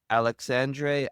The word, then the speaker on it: Alexandre: That's an Alexander Aja movie, or however you pronounce his last name, right? Yep, He directed that. Alexandre Aja.